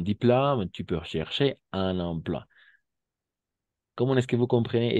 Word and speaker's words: emploi: Étant donné que tu as eu ton diplôme, tu peux chercher un emploi. Ok, diplôme et emploi, d'accord? OI siempre va a ser wa, OI siempre va a